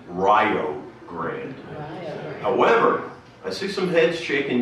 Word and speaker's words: Rio Grande: area of rio grande be careful in pronouncing its name in the company of local people many will swear and you know say that it's fighting words if you pronounce it any other way than rio grande i see some heads